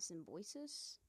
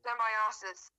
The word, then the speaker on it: Symbiosis: Sunstone and Symbiosis. Mm-hmm. That's not how you pronounce that. Symbiosis.